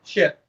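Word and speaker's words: שת: We're talking like Shetland pony, but shit.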